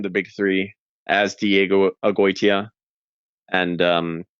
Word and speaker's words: Agoytia: And my last name again is Agoytia, Diego Agoytia. That's how it's pronounced.